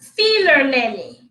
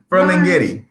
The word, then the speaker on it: Ferlinghetti: Feeler lily. that's not how. Ferlinghetti.